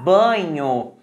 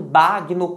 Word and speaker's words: Bagno: você é banho tá eu falo Wagner porque é o seguinte a questão de pronunciar banho na minha opinião banho é o que a gente faz para lavar o nosso corpo e o corpo dos outros animais então ele é bagno para mim tá esse eu acho